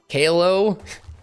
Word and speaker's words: Caillou: Wait, you didn't know how to pronounce Caillou? Kalo?